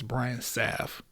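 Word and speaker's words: Brian Sap: a an sa P that's Brian saf for people who can't pronounce or don't know why my name is spelled like that either way um I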